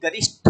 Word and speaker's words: गरिष्ठ: गरिष यूज करते हैं जबक गरिष्ठ ठ है ठ जैसे घनिष्ठ घनिष्ठ यूज करते हैं ना क्योंकि हम गलती किस लिए करते हैं कि गलत प्रोनाउंस करते हैं इसलिए गलत लिखते हैं गरिष्ठ अभी कोई बढ़िया